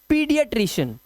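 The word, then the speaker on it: paediatrician: इसे पढ़ेंगे पीडिएट्रिशियन। पेन नहीं पढ़ना है। पीडिएट्रिशियन पढ़ना है।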